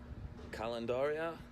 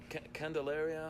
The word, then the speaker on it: Candelaria: This is the historic district known as Calendaria. Candelaria. Love it.